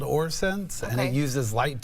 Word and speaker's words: OrSense: Is that Yes, how you it's pronounce called it? OrSense, and Okay.